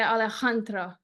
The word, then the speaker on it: Alejandro: bit differently because uh the way you pronounce the J like ju or yeah we say very it's very soft and I have I think I don't know if it's a South American or something but I do this like a with it yeah me it's like a Alejandra it's comes very very strong and then another funny